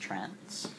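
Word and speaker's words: trans*: a more broad umbrella term which is trans asteris pronounced trans y um in contrast people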